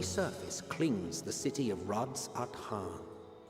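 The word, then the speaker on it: Radz-at-Han: A vast rock squats upon Favnir, and to its stony surface clings the city of Rads at Han. Rats at Han. I have been pronouncing it correctly.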